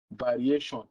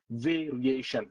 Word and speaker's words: variation: Now, a typical Nigerian will say variation, variation, but it's not variation, it's variation, variation.